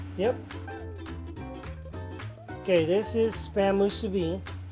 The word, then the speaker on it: musubi: poki to Kansas yep okay this is Spam Musubi how do you say it Musubi Musubi yeah it's misubi what other languages you speak Susan uh English